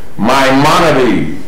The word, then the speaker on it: Maimonides: His name, the way you pronounce it, is Maimonides. Well, I guess one of the best examples, M-Y, like Glenn's money is my money.